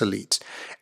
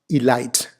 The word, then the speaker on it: elite: world's natural resources so it's either elite elite it is not alight it is not elight and you'd be surprised how many of us actually say a light when saying this word right so in that